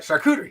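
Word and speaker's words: charcuterie: So, the shakuderie board or however you pronounce Yeah, that's how you say it. All right, shakuderie.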